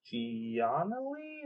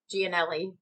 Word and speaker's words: Giannelli: which was played by mike gianli or what is it mike giannelli yes what she said you're italian and